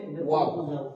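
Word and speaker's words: و: তারপরে ওয়াও, ওয়াও বলার সময় ঠোঁটটা একদম গোল হবে এবং উচ্চারিত হবে ওয়াও ওয়াও।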